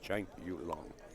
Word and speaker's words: Chang Yu Lung: pronunciation of their names, and that's the way he said it. Chang Yu Lung.